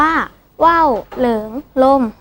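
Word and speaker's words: ว่าวเหลิงลม: เจอ คน รู้ ด้วย สำนวน ว่า ว่า เหลือง ลม อ่าน ว่า ว่าว เหลิง ลม หมาย ถึง อาการ ที่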